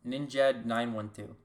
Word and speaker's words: Ninjad912: Ninja D912? I don't know. Yes, that's the right way to pronounce it.